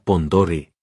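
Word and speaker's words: Pend Oreille: Por cierto, se pronuncia Pondore.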